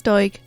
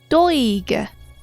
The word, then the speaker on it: Doig: That is how you pronounce Doig. Doig. Like when someone says something obvious and you're like, well, Doig.